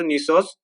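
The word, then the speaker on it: gneiss: तो जी यहाँ पे साइलेंट होता है, हमेशा याद रखना है। तो न्यूसोस स्ट्रक्चर, तो न्यूसोस रॉक्स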